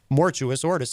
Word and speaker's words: Mortuous Ortis: It's like forget you're supposed to like roll your Rs and Mortuous Ortus.